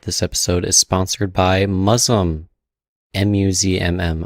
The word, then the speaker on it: Muzzmm: Quickly before the episode starts, I just want to let everyone know that this episode is sponsored by Muslim, Muzzmm. I'm pretty sure it's Muslim's how you say it.